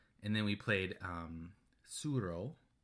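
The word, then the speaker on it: Tsuro: then we played um suro suro I think that's how you say it yeah um starts with a T if you're looking for it TS u r o yeah which we actually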